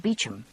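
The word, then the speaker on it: Beauchamp: in correct French though I had given it the common English pronunciation of Beacham yes that's right I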